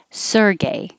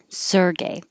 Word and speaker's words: Sergey: this is a name a russian name and american pronunciation of it is sergey sergey another flower magnolia magnolia